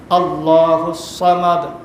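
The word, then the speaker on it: ٱللَّهُ ٱلصَّمَدُ: আল্লাহুস সামাদ, আবার কেউ কেউ এখানে সোয়াদের আমরা সিন বলে ফেলি, সোয়াদের সিন বললে কিন্তু এটা সঠিক উচ্চারণ হবে না।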